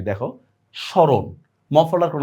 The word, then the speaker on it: স্মরণ: এজন্য মনে রাখবা দেখো ম ফলা যদি শব্দের শুরুতে আসে তাহলে তার কোন উচ্চারণ নাই দেখো স্মরণ মফলার কোন উচ্চারণ নাই